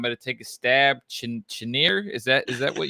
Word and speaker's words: Cheniere: pronounce it either um it sounds French so who knows but I think it's pronounced cheniere um or cheniere but uh either way the